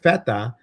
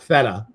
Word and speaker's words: feta: Let me say it like a true Greek. With feta and mint. Not feta.